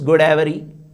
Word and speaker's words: Godavari: Even Godavari, which is a Telugu word, how do they pronounce? It is Godavari.